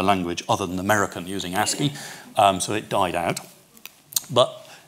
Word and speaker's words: ASCII: the way ASCII as it is now called ASCII is the way you pronounce a SCO is not very popular now